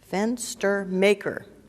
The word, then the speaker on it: Fenstermaker: fence to meijer died pronouncing maker fenstermaker fe NS t er ma ke r would